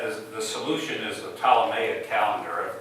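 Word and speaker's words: Ptolemy: the solution is the T May a calendar are you familiar with tmy tmy with a silent P had a theory of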